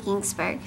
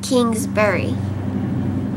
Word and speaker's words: Kingsbury: love all books by Karen Kingsburg or Karen Kingsbury that's how you say it I love all